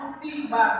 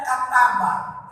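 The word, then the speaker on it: كُتِبَ: Kenapa dibacanya kutiba bukannya kataba? Kalau kataba ada kalimat Allahnya, kataballahu alaikum. Jika dibaca kutiba, kalimat Allahnya disembunyikan. Kutiba alaikum. Aku wajibkan. Siapa aku? Allah. Enggak ada kalimat Allahnya disembunyikan. Maka bacanya kutiba.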